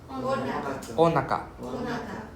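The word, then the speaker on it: おなか: So this o and na is two separate words, So it's not on, it's o and then na. So onaka. Not onaka, it's onaka.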